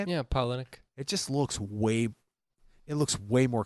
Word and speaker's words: Palahniuk: And I can never pronounce the writer's name. Can you say his name for Chuck me? Palahniuk. Chuck Palahniuk. Is that how you say it? Yeah, Palahniuk.